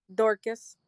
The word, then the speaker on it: Dorcas: Dorcas. Can you spell that? Dorcus. Dorcas. Dorca. Dorcas. Like Orca with the D in front of it, right?